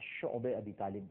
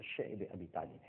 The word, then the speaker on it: شعب ابی طالب: بعد شیب ابی طالب، جس کو بعض حضرات شعب ابی طالب بھی کہتے ہیں، لیکن جس کا صحیح تلفظ ہے وہ شعب ابی طالب ہے، ایک گھاٹی تھی، آج